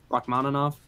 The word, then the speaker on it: Rachmaninoff: also I heard that the Russian composer Rahman off to oh how do you say that Rachmaninoff yeah that's it yeah yeah I heard